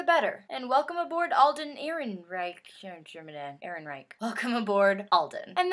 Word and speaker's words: Ehrenreich: Ehrenreich. Pretty sure that's how you say it. That's how the website said that you said it, so.